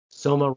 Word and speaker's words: Soma: And the way to remember not to prescribe it was Soma rhymes with coma.